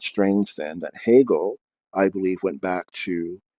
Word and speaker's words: Hegel: which uh the h h-e-g-e-l uh the e the ease and hegel are pronounced as a's if they were pronounced in their latin way and a ha gel is a blessed wind